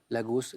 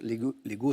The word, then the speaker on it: Lagos: remplace Lagos en 1980 Lagos Lego sont dans les deux prononciation Abuja assuntion au Paraguay